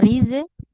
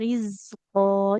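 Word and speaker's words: رزقا: Nah, jangan rize. Wajada indaha rizqo. Jadi tidak rize, ya, hati-hati.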